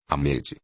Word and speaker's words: Ahmed: Pergunta o doutrinador caprichando como pode na pronúncia ligeiramente aspirada. Ele parece aprovar. Ahmed. É assim que se fala.